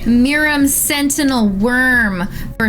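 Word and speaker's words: Miirym: Miram Sentinel Worm for 3, a green, blue, and a red. Did I not pronounce that right? Miram.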